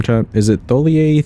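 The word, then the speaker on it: Thiollier: Actually, how do you pronounce his name, chat? Is it Tholier Theolier?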